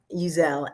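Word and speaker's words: Uzzell: name is jeanine uzell it's just a little change in how you say it um uzelle and i am currently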